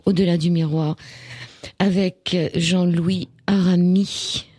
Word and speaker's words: Aramis: Émission Au-delà du miroir avec Jean-Louis Arami. Il y a un S à la fin qui ne se prononce pas.